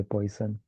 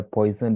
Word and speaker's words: Poisson: Now you have one more type of distribution, which I guess it's French, so it's supposed to be pronounced like Poisson or something. But I speak English, so I'm just going to say Poisson.